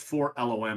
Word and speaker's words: 4-LOM: Wikipedia they have his name listed phonetically and it's spelled for E four. It's four loom.